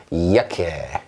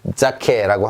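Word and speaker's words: Jacke: 이거 재킷이라는 뜻인데요. 재킷, 우리가 입는 옷, 이야케 이렇게 읽습니다. 이야케. 자, 자케라고 하고 싶죠? 저도 그 마음 압니다. 알지만 이거 이야케 이렇게 해주시면 되겠습니다.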